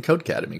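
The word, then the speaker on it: Codecademy: employee first of all I appreciate you pronouncing code academy correctly there's no a in the middle that gets a of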